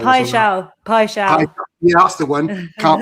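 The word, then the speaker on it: Paixão: Igor Paccio. It's Pai Shao.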